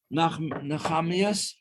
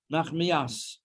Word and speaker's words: Nachmias: Nachamias? Is that how you pronounce it? Nachamias? Nachmia. Nachmias.